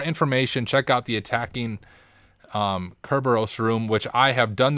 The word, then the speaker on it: Kerberos: ntlm and kerber kerberos i always say it wrong the first time kerberos since these will be